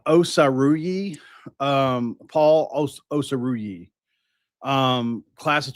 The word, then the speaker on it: Osaruyi: Um, Paul Paul Osaruyi is how it's pronounced.